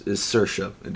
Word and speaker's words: Saoirse: If you're struggling to pronounce any characters' names, the main character is Saoirse. I know it doesn't look like that's how you spell it at all, but that's her name.